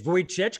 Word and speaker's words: Vujicic: pronounce for many uh i'll i'll refer to it as nick vojcich kind of like a voyage nick vojcich he's australian